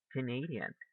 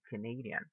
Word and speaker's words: Canadian: second one we say canadian canadian do you hear where the stress goes here yeah right we say canadian the stress goes in the second syllable canadian what about this